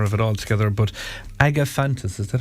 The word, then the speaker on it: Agapanthus: it all together, but Agapanthus, is that how it's pronounced? Agapanthus. I was close. I'd say it's Agapanthus. I just paid too much respect to the H.